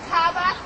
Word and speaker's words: Kaaba: born the what the Kaaba you mean the Caba yes you can pronounce it potatoes potatas Caba Caba it doesn't matter listen the cabba stone